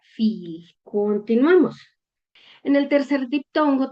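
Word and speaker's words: viel: Esto lo voy a pronunciar como si tuviera doble i, como cuando en español decimos sí. Este, en este ejemplo lo vamos a leer como esta palabra se pronuncia fil.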